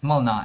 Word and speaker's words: Mlynar: Hold on to your hats, because we're about to dive into the skill set of Mylnar, the Grandpa God who's older than Did. I know it should be pronounced as Mylnar in Polish, but I don't speak Polish.